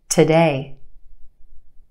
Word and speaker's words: today: The first syllable is where we have our schwa sound, today, today, ta, ta, today.